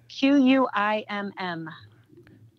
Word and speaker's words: Quim: Can you spell that? Q-U-I-M-M.